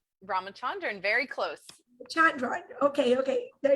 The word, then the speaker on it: Ramachandran: Ramachandran, very close.